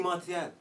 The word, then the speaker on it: Martial: knows what properly is it's Marti no doubt I feel like Marshall is just easier to say I feel like we just say it how you want to say it Anthony martial what does Pogba need